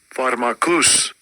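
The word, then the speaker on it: pharmakos: The word is pharmakias or pharmacu. Let me just let Esau pronounce it. Strong's G 5332. Pharmakus. Pharmakus. Okay, so it's pharmakus.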